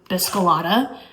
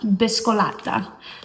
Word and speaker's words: Biscolata: So, I always like want to say it in like the most American version like biscolada, but it's not said like that. Biscolata.